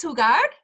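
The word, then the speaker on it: jugar: to play kid is who guard remember the J in Spanish makes the H sound since the letter H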